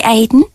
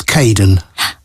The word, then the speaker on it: Kaden: welcome to the team hi Aiden uh it's Kaden I'm so sorry don't worry people often get my name wrong they never know how